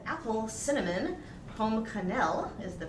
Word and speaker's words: Pomme Cannelle: And his piece is called Apple Cinnamon Pomme Cannelle is the pronunciation, written in 2007.